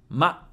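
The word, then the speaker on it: ま: flame then we have ma ma is pronounced like the English word ma meaning mother in other words it sounds like ma in Mark how to remember ma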